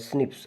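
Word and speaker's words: SNPs: इसको हम कहते हैं single nucleotide polymorphism, pronounced as स्निप्स occurs in the human.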